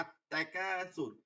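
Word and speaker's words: التكاثر: আচ্ছা এবার দেখেন, এই যে আলিফটায় জবর হইছে না, আত-তাকাসুর, আলহাকুমুত তাকাসুর, এই যে আত-তাকাসুর, এই যে লামটা উচ্চারিত হয় না কেন?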